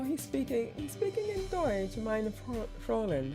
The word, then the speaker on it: Fräulein: Oh, he's speaking in Deutsch, meine Fräulein.